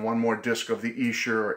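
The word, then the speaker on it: Esher: more disc of the Essure or Escher demos I don't how to pronounce that I'll say yes sure okay I'll just say it that way I'm from New England say Asha the Asha demos you know my Boston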